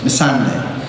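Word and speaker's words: Missandei: Missandi, Missande, Miss Everybody got a different pronunciation for that. I know it's Missande.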